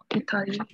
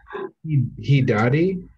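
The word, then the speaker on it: ひだり: Yeah, I think I'd say watashi no hitari guys. Hidari? Oh, yeah. Sorry. You're good. I said Hidari.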